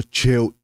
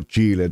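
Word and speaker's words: Chill-E: el nombre Pablo che No es Pablo chile todo el mundo le llama Pablo chile porque pues lo pusieron así pero Vera forma de pronunciar el nombre es Pablo Che y eso viene de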